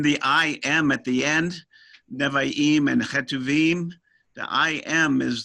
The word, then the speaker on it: Nevi'im: Well, it's really more in favor of our pronunciation because we have 2 I's stuck together. And so they just tell you you're supposed to stutter when you get to Nevi'im.